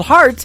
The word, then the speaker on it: Hart: good friend Robbie Hart it is HR t on her last name and that is called heart in two places yeah I just like your heart that how that's spelled and uh she is actually